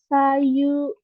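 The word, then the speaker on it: 左右: Untuk cara bacanya nih, ini pakai cara bacanya ini ya, yang kiri yang kanji hidari itu yang pakai cara baca sa, sedangkan kanji yang kanan pakai cara baca yang yu ya, yang ini menjadi sayu.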